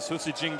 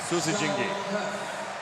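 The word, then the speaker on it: Susijengi: at the wolf pack the Susi jingi is what they call them how do you spell that s u s i j e n g i good job sus jingi they must have a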